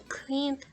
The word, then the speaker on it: cleaned: Example, cleaned sounds like cleaned.